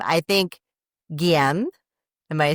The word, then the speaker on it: Guillaume: I think Guillaume.